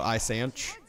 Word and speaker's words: ISanych: sure the CH and I stand is pronounced like CH in church so I Sanchez or is it safe